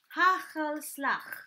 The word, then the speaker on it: hagelslag: You have to pronounce, this is actually, they call it hagelslag. Hagel. Okay, it's spelled like this. Hagelslag. Hagelslag. Okay. Oh, it's like gargling.